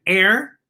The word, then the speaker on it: heir: what how about h h is for air whoa the honest air admits that herbalism isn't his cup of tea so h for air and air h-e-i-r as in as someone